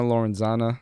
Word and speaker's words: Lorenzana: so everything on social media is a stunner lorenzana that's st you and na lor enz a